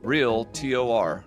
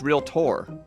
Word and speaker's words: Realtor: Then they always pronounce it Realtor, but it's real T-O-R. No, it's Realtor. There's no I.